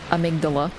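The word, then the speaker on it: amygdala: region of the brain it's pronounced amigdala but let's be real here amigdala sounds cooler and that's what patches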